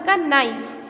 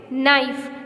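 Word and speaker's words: knife: Last था अपन का नाइफ. We pronounce it नाइफ, नॉट कनाइफ. कनाइफ नहीं साउंड करेंगे, के क्या है? साइलेंट है.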